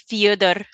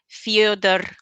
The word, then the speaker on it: Fedor: To pronounce his name in Russian, you roll the end R. So it's okay. I'm gonna try to do this. Build up enough confidence to do this. It's FEDOR.